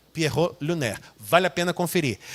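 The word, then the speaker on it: Pierrot lunaire: composição que é o Pierro luner se escreve assim mesmo p i e r r o t l e l u n a i r e Pierro luner vale a pena conferir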